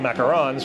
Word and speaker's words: macaron: Right, because they also sell macarons, which get confused. They're the little sandwich ones, the French ones that are, and pronounced macaron because they're French.